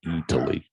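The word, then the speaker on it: Eataly: different food stations and it's spelled e folks e-a-t l-y that's why he's saying italy someone was wondering maybe why you were going what the fuck's he saying italy like italy but that's the name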